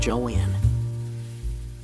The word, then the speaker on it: Joan: adoption of Joan Crawford her preference was for her first name to be pronounced Joanne Crawford disliked her last